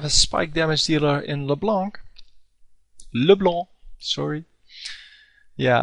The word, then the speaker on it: LeBlanc: And they have a spike damage dealer in LeBlanc, sorry. Yeah, I keep forgetting it's actually supposed to be pronounced in French, because it is a French name.